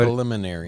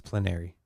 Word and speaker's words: plenary: think they misspelled it it's not preliminary no no it's plenary it is spell correct